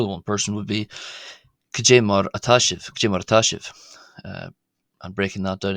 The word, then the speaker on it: Caidé mar atá sibh: would be more than one person would be kajarash. Uh and breaking that down again to be pronounced it is ka j k marachas marash.